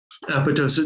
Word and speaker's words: apoptosis: Apoptosis. No, some people say apoptosis, but should be a silent P if you're going with a Greek pronunciation.